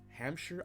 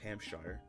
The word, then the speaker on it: Hampshire: Hampshire, I do not believe it is pronounced Hampshire. I believe it is pronounced Hampshire because it is British.